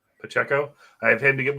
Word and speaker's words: Pacheco: uh what's this is it how do you pronounce the running back on Kansas City is it pachico Pacheco Pacheco I have him to get more uh yards